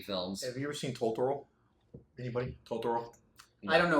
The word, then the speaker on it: Totoro: I believe it's pronounced Totoro.